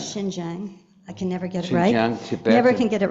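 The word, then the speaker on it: Xinjiang: in the autonomous regions of how do you pronounce it? Jinz Jang. Shinjang. Shing Jang.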